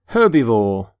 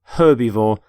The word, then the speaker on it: herbivore: herb by the way you pronounce the h in the word herbivore for example the stomach